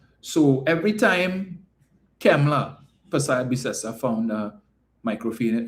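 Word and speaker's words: Kamala: sorry every time um Kemla not Camela right cuz if we had to go by the pronunciation as articulated by up north yesterday her name is not he don't like cam he likes chem so it's Kemla all right so let's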